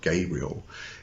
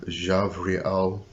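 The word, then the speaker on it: Gavriel: actually denotes War and the B is often um pronounced as a v so it's not this for instance not gaborate it's gaburra um so we have Raphael Michael uh javriel that's an e at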